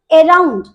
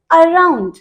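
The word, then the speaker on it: around: इसे हम बोलते हैं, बहुत सारे बच्चे इसे मिस प्रोनाउंस करते हैं, दैट इज अराउंड। वो टोटली गलत है। The correct pronunciation is अराउंड। Something is अराउंड मी, अराउंड। यानी कि यहां पर ए को क्या प्रोनाउंस कर रहे हैं हम, थोड़ा बोल करके रुक जा रहे हैं।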